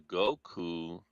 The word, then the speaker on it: Goku: He says cuz Goku rhymes with Roku.